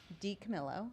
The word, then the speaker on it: DiCamillo: The novels by Kate DiCamillo.